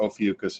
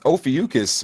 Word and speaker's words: Ophiuchus: people have never even heard of it or ophiuchus however you pronounce it yeah that was the way i